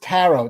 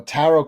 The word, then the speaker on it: tarot: she does this now it's spelled with the t at the end but it's not pronounced with the t i know it's not